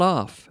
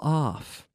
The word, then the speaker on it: off: They're well off. They're well off. Yeah, well off. Two Fs, of course. Off. Not of, but off.